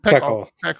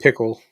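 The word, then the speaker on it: PECL: Pear and Peckle. Yeah. Or Pickle. I think people were pronouncing it Pickle for some reason. I think that's how I pronounce it, because I think the logo was a pickle, wasn't it?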